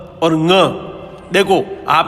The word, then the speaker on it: ङ: नाक से थोड़ा सा गले की ओर दबाव देकर के नाक से बोलना है। ड़ नहीं होता है। क्या होता है ये? ङ। क, ख, ग, घ, ङ। इसको ङ उच्चारण होता है इसका, ठीक है ना।